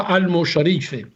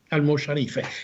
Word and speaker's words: almojarife: Este hombre era almojarife, como se decía en aquel entonces, pero yo creo que en el siglo XII se pronunciaba almosharife, almosharife.